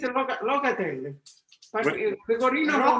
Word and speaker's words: Locatelli: It's a locatelli. What- Pecorino Romano. Rocatelli.